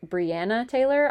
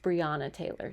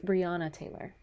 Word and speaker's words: Breonna Taylor: I said Breonna Taylor. I believe it is pronounced Breonna Taylor.